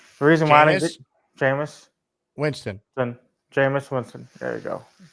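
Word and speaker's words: Jameis Winston: from saying jamus Winston repeat after me ready jamus jamus Winston Winston reason why jamus Winston jamus Winston there you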